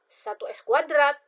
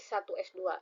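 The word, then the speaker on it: 1s²: Nah, jadi dibacanya bukan 1s kuadrat, tapi 1s2.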